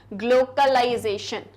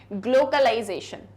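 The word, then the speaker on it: glocalization: ग्लोकलाइजेशन, ये ग्लोबलाइजेशन नहीं है, ये है ग्लोकलाइजेशन।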